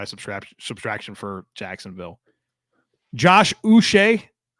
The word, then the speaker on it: Uche: subtraction for Jacksonville Josh us I looked that up by the way that's how you say it Josh us for a